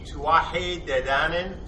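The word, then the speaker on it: Tuatha Dé Danann: The Arthurians, the Tuatha De Danann.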